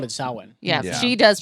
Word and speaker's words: Samhain: a lot of people will call it like samhain just because of that's how the way it's spelled and it's like the american pronunciation but she actually called it saowin yeah she does pronounce it correctly correctly and